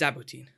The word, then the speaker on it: Zaboutine: I'm really excited to please let me introduce Thomas Si-Hassen, maybe better known as Zaboutine. Welcome. Hey, hello. And you didn't actually you pronounced my name well.